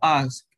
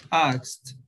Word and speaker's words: asked: vowels, vowel voiceless words, the final ed is pronounced like t, t.